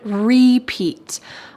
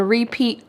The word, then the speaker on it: repeat: And our final expression for music that you love, you could say, I have it on repeat. I've been listening to that song all day. I've had it on repeat all day.